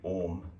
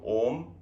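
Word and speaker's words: ॐ: three times and next we combine our ah uma and make it om so how to do ohm so now we don't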